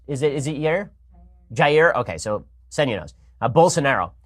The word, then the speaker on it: Jair: I'm not sure how you pronounce. Is it Jair? Jair.